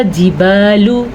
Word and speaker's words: جبال: لیں۔ پھر اسی طرح جبالو، لام کو لمبا نہیں کریں گے لیکن یہاں پہ با کو لمبا کریں گے کیونکہ با کے بعد الف ہے، یہاں پہ الف مدہ